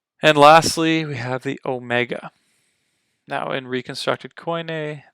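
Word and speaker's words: ω: lastly we have the Omega now in reconstructed coin a the Omega makes the exact same sound as the Omicron the phonetic is the same just o Omega o starting at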